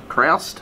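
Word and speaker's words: Krast: So the house is House Kraust. House of Kraus, I think it's pronounced.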